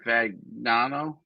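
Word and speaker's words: Fagnano: Fagano.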